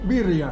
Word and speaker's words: birria: Birria, ¿cómo se dice? Birria. Birria. Diez puntos, muchacho. La primera salsa roja, que conste, está ahí.